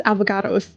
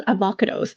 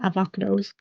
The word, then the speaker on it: avocodos: It was avocados. It was avo- No, it was avocodos. Sorry, I mispronounced his name. My bad, avocodos. And then the bomb went right ahead and destroyed av- avocados's um avocado farm.